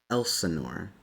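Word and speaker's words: Elsinore: uh what was it Elanor is his name Elenor Elenor like the city in California or it's more like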